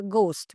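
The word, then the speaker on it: ghost: इट इज़ घोस्ट because the जी is silent here.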